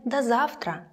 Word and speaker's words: до завтра: До завтра, so until tomorrow, pronounced like да, до завтра.